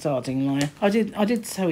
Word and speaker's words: Ardingly: in arding Lai and although it says ardingly it's pronounced Arduino I did I did